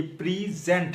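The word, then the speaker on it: present: Offer, ये प्रीजेंट है, प्रीजेंट, यानी कि PRE के ऊपर स्ट्रेस देनी है, आपने ज्यादा जोर देना है।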